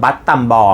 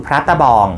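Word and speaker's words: បាត់ដំបង: เป็น ที่ มา ของ ชื่อ เมือง บั ตำบ หรือ ออก เสียง แบบ ไทย ๆ ก็ คือ พระ ตะบอง บัด ตำบ ภาษา เขมร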